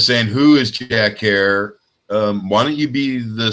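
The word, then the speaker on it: Herer: it's it you know it rhymes like ter it's Jack hair ok and his last name is h er er that easy but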